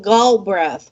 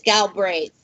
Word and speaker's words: Galbraith: know but you know over here in the states they pronounce my name gull breath which is even worse why would you pronounce it which is really truly it's galbraith it goes back to